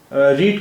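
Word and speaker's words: read: verb इस्तेमाल किया है रीड की थर्ड फॉर्म रेड है लेकिन दोनों की स्पेलिंग रीड और रेड दोनों की स्पेलिंग एक ही है बस सिर्फ बोलने का फर्क है सिर्फ उच्चारण का फर्क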